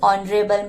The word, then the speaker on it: honorable: first example he is Honorable man the answer is he is an honorable man here the HED in honorable is silent making the first sound a wow sound o so an is used